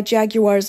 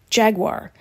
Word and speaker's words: Jaguar: where he creates meticulously engineered cars inspired by Jaguar's 1966 sj3 lemon's prototype he says he never